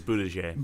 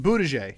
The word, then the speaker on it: Buttigieg: I'm going to say Buttigieg every time. I was told it was Buttigieg. Buttigieg. All right. Well, I'm going to say Buttigieg then.